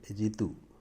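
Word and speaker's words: ऋतु: അതുപോലെ ഋതു എന്നുള്ളതിന് രിതു എന്നാണ് പറയുക.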